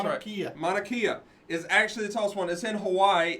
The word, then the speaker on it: Mauna Kea: is that say that again that's how Nakia Mauna Kea is actually this house when it's in Hawaii